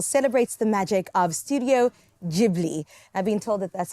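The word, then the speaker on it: Ghibli: and this Festival celebrates the magic of Studio jibli I've Been Told that's how you say it cuz I'm like gibli gilby stud G Studio gilby the Beloved Animation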